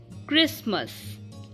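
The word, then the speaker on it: Christmas: हो फिर टी हो तो तब भी टी साइलेंट हो जा कई वर्ड्स में जैसे कि क्रिसमस लिसन फसन मोशन ओके यहां पर क्र क्रिसमस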